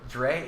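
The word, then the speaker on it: Dri: Dry Archer is the third string running back. Is it Dry or Dre? Dre. It's D-R-I. D-R-I. Dry. Oh, however you want to pronounce that.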